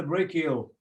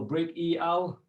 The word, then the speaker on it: brachial: brachial there is the brachial so it's pronounced brachial or break e al and then to help